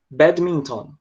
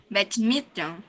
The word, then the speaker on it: badminton: Maria Clarissa, pronuncia comigo essa próxima palavra, que é a palavra badminton. Badminton? Calma, de novo, ó, badminton. Badminton. Ah, melhorou. Ficou bem melhor. É só um som, é porque o som é bem rápido, né?